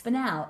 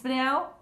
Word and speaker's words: spinel: I said that like it was one stone. It's spel. I'd like to see that. That's why pronunciation is so important. It's spanel and topaz. It's spanel. Pause.